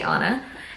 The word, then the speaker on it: Anna: the names right um an to is one n so I'm going to say Anna and she is the